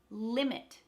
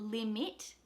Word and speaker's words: limit: Limit. So that first I is emphasized. So the second I, it's not limit, it's limit. Limit.